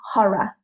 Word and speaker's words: horror: sound at the end the r is not really pronounced and neither is the O it becomes sort of more of a a UA kind of sound horror horror okay next we have